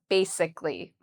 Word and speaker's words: basically: So how do we pronounce basically? Um, so I've written it out here how I would say it. Ba is the first part and that's where the stress is. So we say ba louder and longer.